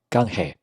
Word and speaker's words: canje: 牙语单词 "canje"，很像中文赶海的发音，千万别读成坎捷。